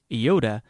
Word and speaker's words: Iota: Iota has the sound of I in machine, except before a consonant in the same syllable, where it is pronounced like I in pin.